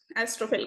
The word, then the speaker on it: Astrophel: तो star lover हो गया इन ग्रीक एस्ट्रोफेल का. अब इसको फिल भी प्रोनाउंस करते हैं, फेल भी करते हैं, इस पे कोई प्रॉपर वो नहीं है वर्डिक्ट की फिल बोलते हैं, कोई एस्ट्रोफिल लिखता है, कोई एस्ट्रोफेल लिखता है.